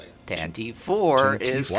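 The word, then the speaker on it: Tantive IV: I don't know how it's pronounced. Tantive 4 is how I always say it. Tantive 4 is Wow.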